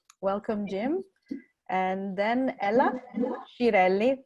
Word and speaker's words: Schiralli: And then Ella Schiralli, that's how I'm told it has to be pronounced in American, because it's an Italian name, who is a guide